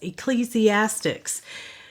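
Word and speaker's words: Ecclesiastes: is Proverbs the next book which I hear mispronounced quite often is ecclesiastics the e CC l e s i a s Tes ecclesiastics there's a time for everything a season everything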